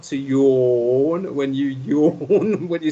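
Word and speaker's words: jaune: It's like when you're yawning.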